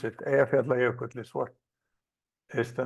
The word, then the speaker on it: Eyjafjallajökull: while is here, and nobody but us can pronounce it. Eyjafjallajökull is what is the name of it.